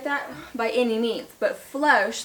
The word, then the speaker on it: floche: so floss versus flosh it is called flosh with the long o i do know how